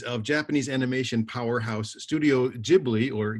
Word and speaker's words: Ghibli: the films of studio ghibli devotees of japanese animation powerhouse studio ghibli or ghibli as it should be pronounced in italian will surely recognize the